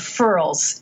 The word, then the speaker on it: furls: They get goosebumps, or it's called furls, F-U-R-L. Like it rhymes with curls, but with an F.